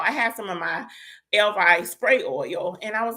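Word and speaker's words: Ellevie: It's E L L E V I E. She pronounces El Vi.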